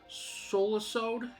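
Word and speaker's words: Solusod: got jill harris as naho we got micah solasode it's spelled s-o-l-u-s-o-d as kaharu you got jason laberchit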